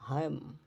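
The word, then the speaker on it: hymn: 36 নম্বর নিয়ম হচ্ছে যখন শব্দের শেষে এমএন থাকে শব্দের শেষে এমএন থাকলে এরপর কোন vowel I ই ও আই ও ইউ এ ই আই ও ইউ না থাকলে এন এর উচ্চারণ হয় না যেমন সলেম সলেম গুরু গম্ভীর হচ্ছে কনডেম কনডেম ড্যাম ড্যাম হাইম হাম আটাম এরকম শেষের এন উচ্চারিত হবে না আচ্ছা এম এন থাকলে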